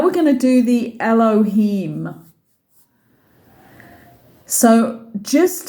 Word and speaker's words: Elohim: accent brings it through write it phonetically to remember it but it's Elohim so you're just saying